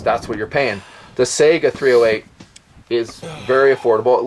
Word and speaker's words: Saiga: and by the way I say Sega I know it could be pronounced SAA however you want to you know vary the pronunciation I just americanize it so Sega that's what it's going to be